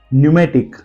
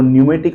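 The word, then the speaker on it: pneumatic: let's see some example example है न्यूमेटिक अब न्यूमेटिक का स्पेलिंग ध्यान से देखिए पी एन स्टार्टिंग में है एन से पहले पी दिखा गया है दैट इज वय हम पी को प्रोनंसिएशन नहीं कर रहे सेकंड स्पेलिंग इज निमोनिया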